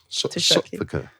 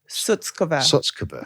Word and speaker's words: Shutkever: It's Shutkever, and it was translated on the border for the British people. Shutkever. Shutkever. Yeah. Okay, so that's the proper pronunciation.